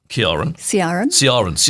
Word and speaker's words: Ciaran: So you Georgia, Ciaran. I knew I was going to get it. It's a soft C. It's like the Soft C. difference between Celtic and Celtic.